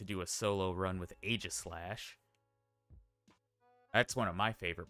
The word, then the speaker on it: Aegislash: Apparently, I was saying Aegislash wrong. It's pronounced Aegislash.